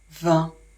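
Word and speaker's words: vingt: 20, I et N, ça fait le son 1. Le G, on ne le prononce jamais.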